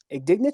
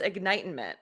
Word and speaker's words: Ignitement: it's actually it's pronounced ignitement so ignite sorry yeah no no it's a bizarre name so it's a it's a mix between ignite like you're igniting something and Enlightenment so it's it's a